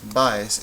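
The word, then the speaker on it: Báez: Which syllable is louder, the ba or the es? Baez. Baez is a grave word.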